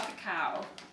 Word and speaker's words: cacao: Raw cacao.